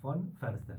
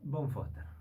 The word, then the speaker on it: von Foerster: Sería von Förster. Von Claro, Förster, pero argentinizado, ¿cómo sería? Von Foster.